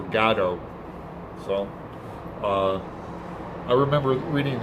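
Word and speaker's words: Godot: for good gato and i said gato because uh in interviews that's how beckett pronounces it waiting for gado so uh i remember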